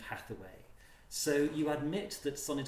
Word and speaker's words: Hathaway: life saying not you and hate away was an alternative pronunciation of Hathaway so you admit that